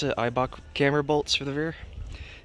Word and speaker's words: Eibach: right now with the eibach that's how you pronounce it eibach camera bolts for the rear negative three is